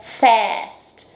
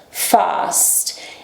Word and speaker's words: fast: Outra opção, fast. Em inglês americano seria fast. A pronúncia vem lá na frente da boca. Em inglês britânico lá no fundo. Fast.